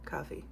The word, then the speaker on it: Ko-fi: And yeah, it's available on my Ko-fi. Coffee? I don't know how to say it. Coffee. Ko-fi. Starts with K.